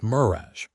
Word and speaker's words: mirage: "Mirage is pronounced mirage," said Valancy shortly, picking up her tea and her beans.